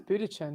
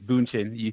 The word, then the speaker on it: Bündchen: I thought it was Budichin, no? No, it's Bündchen. You said it right.